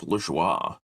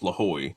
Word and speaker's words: Lajoie: for a guy named Nap Lajoie, or Nap Lahoy, depending on how you want to pronounce it.